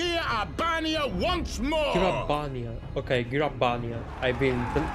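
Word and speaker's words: Gyr Abania: over the mountains of g abania once more gabia okay gabia I've been mispronouncing it whole time much like most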